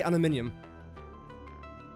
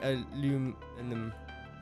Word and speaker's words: aluminium: no aluminum I say aluminium some people say aluminum yeah anyway so B